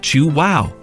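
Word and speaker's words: Chuao: chocolate bars number five chuo chocolatier California known for their fair trade chocolate chuo pronounced chew wow are based in Carlsbad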